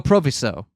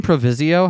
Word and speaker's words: proviso: on that very subject did you say Proviso Proviso oh Proviso I also don't know how to say this out loud I've only seen it written out loud have I been saying provisio have I been adding the i in there I think so God damn